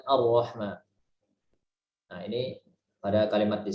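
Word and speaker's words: الرحمن: Jadi bukan Ar-Rahman, Ar-Rahman. Tapi kita bacanya dengan lebih ringan, Ar-Rahman.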